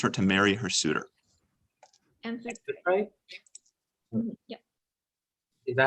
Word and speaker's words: Amphitrite: Amphitrite? Yeah. Is that how you say it? Amphitrite? Yeah, we can You know spell what? You know what? I'll just defer to X4. Yeah, Amphitrite final.